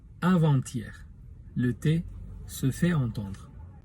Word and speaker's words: avant-hier: Avantier avec un trait d'union se prononce avanttier.